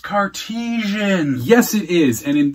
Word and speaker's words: Cartesian: car Titian car cartasian Kardashian it's pronounced cartesians yes it is and